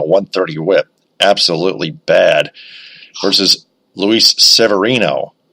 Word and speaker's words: Luis Severino: Versus Luis Severino. Luis Severino is how it's pronounced.